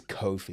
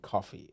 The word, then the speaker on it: Cofie: they were like um so my name is Kofi it's pronounced cofi but people call me coffee and especially Americans hey coffee so they said